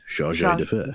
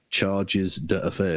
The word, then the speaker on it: chargé d'affaires: Indeed, but it's pronounced chargé d'affaires. Mm-hmm. Yeah. And but the guy obviously who never encountered this phrase before decided to pronounce it charges d'affaires.